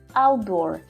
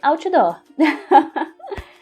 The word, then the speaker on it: outdoor: pessoa te entenda Então quando você fala inglês ao dor ao dor ao dor Se você tiver falando português Outdoor Então apesar de eu